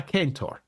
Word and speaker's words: centaur: animal traits like a centaur or if you wish, if we're pronunciate ostensibly correctly, a kentor.